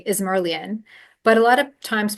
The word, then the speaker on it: Izmirliyan: just uh I mean you can pronounce every letter and you would you would say is merlan but a lot of times people don't remember that so I just say it's it's all